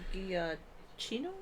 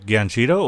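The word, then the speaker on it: Giacchino: From uh Michael Guillino is that yeah no Ganchito. What is it? Spell it.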